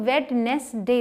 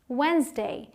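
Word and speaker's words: Wednesday: बहुत ही important one जिसे बहुत सारे लोग वेट ली दे बोलते हैं राइट इसे आप प्रॉपर दी का साउंड लेट हैं विटनेस दे लेकिन ये है वाइंस दे और आप आएंगे मैंने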